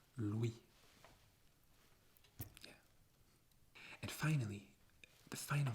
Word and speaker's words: Louis: name louis louis and you don't pronounce the s at the end in french it's louis and finally the final